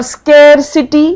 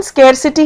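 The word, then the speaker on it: scarcity: और स्केसिटी। स्केयरसिटी मतलब होता है कमी हो गई है किसी चीज की। इसकी प्रोनाउंसिएशन स्केरसिटी है। जबकि बहुत लोग इसको स्क्सिटी स्क्सिटी कहते हैं वो नहीं है।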